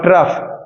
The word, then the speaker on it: trough: ये हाँ ट्रफ, TROUGH, ट्रफ, spelling भी देख लो और नाम भी सुन लो।